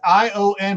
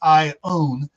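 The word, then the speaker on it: Iona: It's ION, but it's not Ion. It's Ione. That's the way they pronounce it here.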